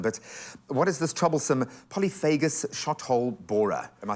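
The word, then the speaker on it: polyphagous shot-hole borer: But what is this troublesome polyphagus shot-hole borer? Am I saying it right? Yeah, it's perfect pronunciation there.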